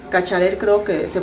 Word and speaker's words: Cacharel: Este es el, ¿cómo me dijeron que se pronuncia? El Cacharel. Cacharel creo que se pronuncia.